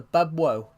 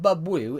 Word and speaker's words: Bubwo: So Bubwo. Okay. Alright. Well, it's just a... I said it right. It's not Bubwoo. If it was Bubwoo, it would be two O's.